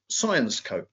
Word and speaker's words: Syensqo: So, Syensqo.